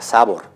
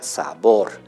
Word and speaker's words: sabor: Están las palabras agudas, que son aquellas que tienen mayor elevación de voz en la última sílaba. En nuestro ejemplo aparece la palabra sabor, porque no se pronuncia sabor, ¿no es cierto? Se pronuncia sabor.